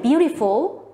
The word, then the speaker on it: beautiful: and loudly for example the word beautiful would be loud soft and soft as you've seen it